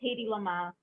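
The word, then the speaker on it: Hedy Lamarr: Hedy Lamer. So Michael has got 2. I think it's Hedy Lamar.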